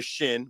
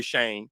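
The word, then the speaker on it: Chene: You've been saying it right because in Detroit we don't pronounce them the French.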